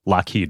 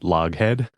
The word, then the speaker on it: Loughead: Yes, but it was pronounced Lockheed because it is Scottish, like Loch Ness, Lockheed, not Loghead.